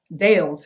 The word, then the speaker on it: Dales: over here there's a Hill Called deals Hill of course they would have pronounced it Dales Hill and because he knew